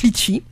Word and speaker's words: Leetchi: de créer une cagnotte litchi donc cette cagnotte litchi lee vous tapez donc sur sur le moteur de recherche sur internet leetchi ça s'écrit elle 2e tch y voilà vous tapez litchi et